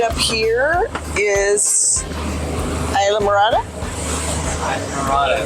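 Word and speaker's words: Islamorada: right up here is ISA marada marada thank you for pronouncing it not Isam madora I've been saying Islam madora on accident it's Isa marada they're having the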